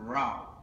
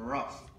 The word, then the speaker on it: rough: Cutting wood all day make his hands strong and raw. One day... That's rough. It's spelled the same way as the other, O-U-G-H.